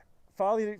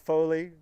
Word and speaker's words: Folly: yeah he was yeah folly finally dude you i i've had a a series of mispronunciations lately i was calling it foley i got i got